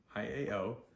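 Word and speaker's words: iao: yers yo okay so I AO is said like y w yo okay next we have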